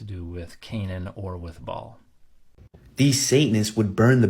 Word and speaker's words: Baal: a bait Ein lamad not bait alif lamid Bal is actually a Hebrew word that means Lord